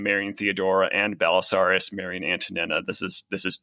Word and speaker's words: Antonina: Well, I mean, I've just realized, by the way, that I've been mispronouncing. I've been calling her Antonina and you've been calling her Antonina.